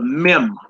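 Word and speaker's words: מם: slash te all right the next symbol makes a m as in Moon and it's called the meim meim all right you look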